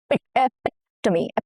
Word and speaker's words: epitome: Here the stress falls on the second syllable, which is epitome. Epitome, okay? The second syllable is the important syllable, the stress syllable.